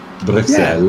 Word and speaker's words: Bruxelles: Going on Google Translate in a second to get the correct French pronunciation of that. I don't trust you. Bruxelles.